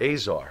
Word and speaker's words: Azar: make sure I'm saying it right, Bret Azar. Azar. Azar. Yeah. He's who's a a czar. star. That makes sense. He's a czar Yeah. with a star.